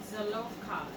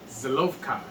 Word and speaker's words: Zelophehad: How do you pronounce his name? Let me do it in Zelophehad. You go. Zelophehad.